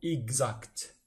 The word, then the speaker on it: exacte: La lettre X se prononce gz. Un exemple, un exercice, l'heure exacte.